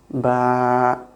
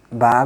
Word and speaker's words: ba: Alif, Ba, like your upper lip will connect to the soft part of the bottom lip. Ba, very easy to pronounce.